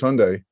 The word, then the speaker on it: Hyundai: you but uh yeah i've always known hyundai is hyundai but you know what rhymes rhymes with sunday was what i was